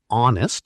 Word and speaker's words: honest: An honest person, because honest sounds like it starts with O.